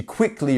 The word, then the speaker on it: quickly: So how would we pronounce that? We have 2 syllables, quickly. So is it our first one? Is it quickly or is it quickly? Which one is it? It's our first syllable, right? We have the dot here and the dot here.